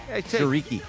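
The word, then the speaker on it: Chriqui: Shiqi. Shereiki. Emanuel Shariki.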